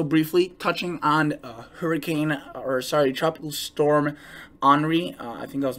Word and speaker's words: Henri: I will be also briefly touching on tropical storm Henri. I think I was mispronouncing it yesterday. I was calling it Henry, but it's actually pronounced Henri.